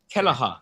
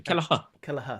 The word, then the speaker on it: Kelleher: Well, I mean, Kelleher. Get your right. I know the goalie. Yeah. You've got to get your Irish pronunciation. Kelleher.